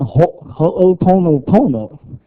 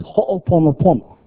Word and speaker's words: Ho'oponopono: Not Ho'oponopono. It's Ho'oponopono.